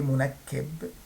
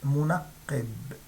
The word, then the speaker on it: منقب: I pronounced the qaf, not the kaf. I didn't say منكب. I said منقب.